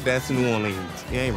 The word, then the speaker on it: New Orleans: short right yeah yeah it's New Orleans it's not it's not New Orleans it's it's not nans